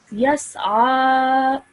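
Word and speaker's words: يسعى: So normally, I would read this as yas'a. Yas'a. Excellent, well done. I like that you make that sound of ayn, okay?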